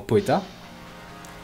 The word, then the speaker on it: poeta: Par exemple, dans poeta, oe, vous prononcez que d'une seule émission de voix.